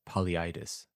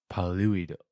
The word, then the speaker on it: Polyidus: All right, the Greek would be Boliuidos. I guess I would render that into English as Polyidus. Paluido. Yeah, you wouldn't put the emphasis on the U.